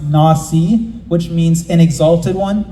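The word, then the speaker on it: נשיא: but the Hebrew word for this Prince is pronounced Nasi which means an exalted one or a chief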